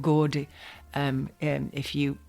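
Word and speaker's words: Gordes: to Google it um there's a place called gordi um um if you pronounce it GES g r d s but if you're French then you'll just say gordi and it's a monastery where they have a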